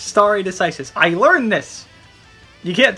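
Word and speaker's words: stare decisis: is how you say it's not stare it's sorry it's star it's starry decisis i learned this you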